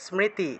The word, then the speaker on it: স্মৃতি: স্মৃতি, স্মৃতি আছে না, বাংলায় বললে স্মৃতি, সংস্কৃত উচ্চারণ হবে স্মৃতি, দন্ত্যস্ব তারপরে ম তারপরে স্মৃ উচ্চারণ করবেন, স্মৃতি। এটা আমি একটু ভেঙে দিই, ঠিক আছে, ভেঙে লিখে দিচ্ছি, স্মৃতি, স্মৃতি এইভাবে উচ্চারণ করতে হবে, স্মৃতি, বুঝে গেল?